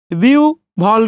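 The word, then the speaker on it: বিহ্বল: তাহলে বিউ ভল কি হবে? বিউ ভল। বুঝতেই পারছেন, কারণ এখানে রস্বই আছে, রস্বইয়ের পরে কি আছে, হয়ব আছে, ওই জন্য হয়পর জায়গায় আপনি উ এবং ভ বসিয়ে দিচ্ছেন।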